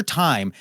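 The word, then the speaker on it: Tyme: It's spelled T Y M E like inexplic inexplicably. Dr. Time a little bit like the concept a little bit like the herb.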